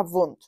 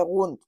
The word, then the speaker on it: Wundt: ya nos vamos a vun que no se dice wun por Dios esto es alemán no es inglés Vale entonces e la